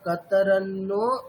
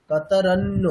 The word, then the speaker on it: कतरन्नो: चेत द्विद्वम कतरनो गरियो वहाँ पर न एक नहीं है दो न है ठीक है वो है तो कैसे होगा कतरनो कतरन्नो आप कतरनो जैसा प्रोनाउंस कर रहे हैं रॉन्ग हो रहा है ऊपर बस एक ही